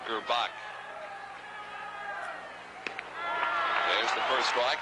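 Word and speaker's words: Gurbach: Jim Gerbach spells his name G-U-R-B-A-C-H, but pronounces it Gerbach.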